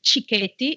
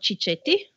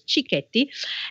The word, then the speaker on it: cicchetti: how to pronounce it so is chti it's not chichetti okay because CH in Italian is K so it's chti and the word comes